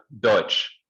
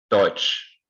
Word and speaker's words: Deutsch: wie sagt man auf Deutsch. And this EU is pronounced like oi, like in the word oyster in English.